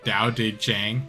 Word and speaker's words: Tao Te Ching: In authoring the, it's supposed to be Tao Te Ching, but I'm gonna say Tao Te Ching.